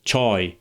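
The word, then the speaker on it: چای: For example, choy meaning tea, a Persian word that ultimately derives from Chinese.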